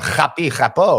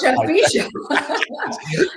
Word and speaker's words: Chapi Chapo: It's from French cartoon, which is at least I didn't pronounce it like I would have done in my bar mitzvah, Chapi Chapo or something. No, Chapi Chapo.